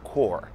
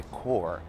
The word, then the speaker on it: Corps: Outra palavra é, por exemplo, core. Ela escreve corpse, mas não se pronuncia desse jeito. É core, core.